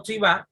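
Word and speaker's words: צוה: tiempos del verbo hebreo, se pronuncia como tzivá y significa conexión o compañerismo.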